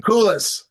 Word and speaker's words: Koolis: Koolis. Cool. Coolis. Yeah, Coolis. It kind of rhymes with clueless or uh